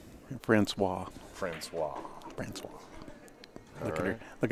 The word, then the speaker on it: Francois: Kiske and Francis? Francois.